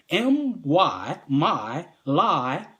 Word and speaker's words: My Lai: The My Lai massacre, MYLAI massacre, is an offshoot from the Vietnam War. Look it up. My lie, because they do lie, but that's not how it's spelled.